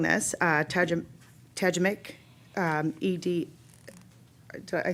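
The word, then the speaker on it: Tajikeimɨk: designated, representative from I have trouble saying this, Tajamik, ED, I said it wrong, didn't I?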